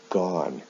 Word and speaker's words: gone: do is pronounced done o-n-e with go is pronounced gone and then the ing forms are the same